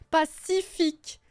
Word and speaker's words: Pacific: Dans Pacific Ocean, il y a 3 C. Les 3 ne se prononcent pas pareil. Pacific. Le C-I, ça se prononce C. Le C de fin de Pacific, c'est que. Et Ocean, c'est CH, alors que c'est un C.